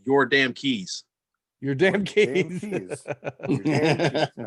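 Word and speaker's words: Yordankys: from mr garcia on the chat it is pronounced your damn keys your damn games all right your damn keys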